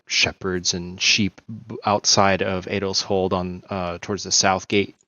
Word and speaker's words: Edel's Hold: current stop has led him to how's it pronounced? The city Eldershold? Adelshold, yeah. Adelshold.